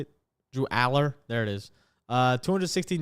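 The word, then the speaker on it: Allar: wrong um how do they say it drew Aller there it is uh 216 yards this all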